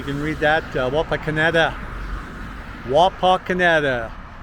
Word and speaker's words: Wapakoneta: kansas in 1832 so wapa canada that is the correct pronunciation okay everybody well i